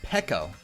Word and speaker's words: Peko: Oh, it's Peko. I've been pronouncing it Pico, my bad.